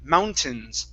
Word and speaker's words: mountains: this word is mountains so the a i n instead of mountains with a long e long a it's a short I mountains mountains mountains MH one